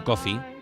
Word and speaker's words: Coffey: Y esos seres que fascinaron a John Coffey, como el café, pero se escribe diferente, siguieron brillando durante mucho, mucho tiempo, mientras el horror se enmascaraba tras de aquel brillo.